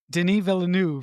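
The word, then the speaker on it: Denis Villeneuve: us through this film arrival was directed by Den V villain say his name say his name say his name Deni venu he's French Canadian thank you thank you it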